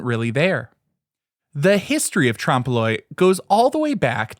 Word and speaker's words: trompe-l'oeil: Today's word is trompe-l'oeil. It's spelled Trompe'L'.